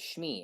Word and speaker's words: Shmi: She spelled it like Schmee, I think, something like that. But phonetically, that's correct. If you're saying it, Shmi, so you take that word and you say that word, it's said correctly.